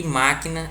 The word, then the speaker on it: máquina: Máquina, o MA, soa alto também.